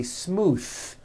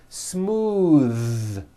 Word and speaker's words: smooth: ends of words smooth believe it or not the th sound in smooth is voiced most foreign speakers say this word incorrectly they say smooth with an unvoiced th but it's voiced smooth bathe the word bath